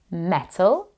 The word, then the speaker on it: metal: Can you hear the ul sound at the end of metal? Metal, metal.